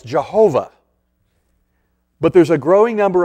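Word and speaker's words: יהוה: So some people say you pronounce it Yahweh. Other people say, no, it's Jehovah.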